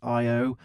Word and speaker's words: Ayo: is that we have this other fork called Ayo, which is pronounced Io.